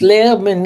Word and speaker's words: Lerman: So it's Lairman Institute L E R M A N Lman Institute for the Advancement of Science.